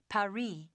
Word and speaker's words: Paris: Well, the locals pronounce it Paris.